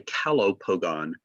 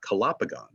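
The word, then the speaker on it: Calopogon: them separately so like i'll say calo pogon not kalapagon uh that's how i pronounce it halo being beautiful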